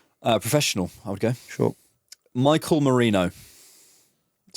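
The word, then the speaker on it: Mikel Merino: Michael Marino.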